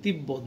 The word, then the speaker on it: তিব্বত: যদি শব্দের মধ্যে বা শেষে এটি বয়ের সাথে কিংবা ময়ের সাথে যুক্ত হয়, যেমন তিব্বত বয়ের সাথে হয়েছে তাহলে ব উচ্চারিত হচ্ছে, লম্ব ময়ের সাথে আছে তাহলে বয়ের উচ্চারণ বজায় থাকছে।